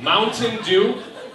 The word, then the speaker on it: Mountain Dew: Mountain Dew. In Wisconsin, we call it Mountain Dew. We don't pronounce any of the syllables in the middle of the word.